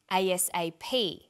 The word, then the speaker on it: ASAP: is pronounced separately but the last letter is pronounced more strongly because it carries the primary stress so we say USA ASAP ABC and TV listen